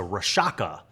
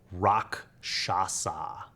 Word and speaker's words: Rakshasa: I was like oh it's a rashaka and then I played D and D for like six more years and when I was like 11 or 12 I realized that I was saying it wrong the whole time rock shasa the rock shasa is